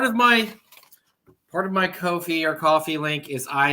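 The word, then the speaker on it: Ko-fi: started a kofi or as i understand it's pronounced coffee oh whatever i look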